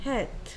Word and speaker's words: hat: 헨 오케이, 계속해서 이 친구는 hat. 쓰기. H A T 그렇지. A는 A A R O A, 에, 아, 어 중에서 에 해야 됐지.